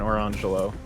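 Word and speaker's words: Orangejello: But you pronounced it Lamangelo and Orangelo.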